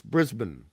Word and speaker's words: Brisbane: But Brisbane is Brisbane. There you take the A out of the part of the name. Brisbane.